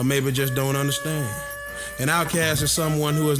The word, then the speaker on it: Outkast: Outkast, pronounced outcast.